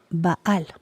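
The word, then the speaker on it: בעל: en la Med y se pronuncia vaal esta palabra vaal se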